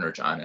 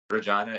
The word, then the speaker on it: Regina: So other than being the city that rhymes with fun, Regina is basically it's the capital city of Saskatchewan.